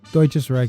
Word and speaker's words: Deutsches Reich: Was it Deutsches Reich? Deutsches Reich is good enough, yeah.